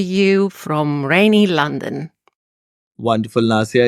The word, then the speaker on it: Nassia: is equally exotic you know so there is nasia and skuli karati is that a correct way I'm pronouncing your names that's very good that's very